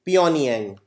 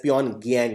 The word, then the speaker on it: Pyongyang: And North Korea's capital is Pyongyang. Also written as Pyongyang, but G is silent.